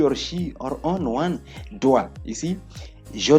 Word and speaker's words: doit: You don't pronounce the last consonant letters in French.